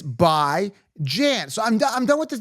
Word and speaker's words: Bijan: It's not Bijan. It's bi. Let me repeat this. It's bi as in bi-weekly. You don't say bi-weekly, bi-weekly, bi-weekly. And Jan, take a look, Jan, it's basic English. Jan as in ran, as in tan, as in fan. It's by Jan.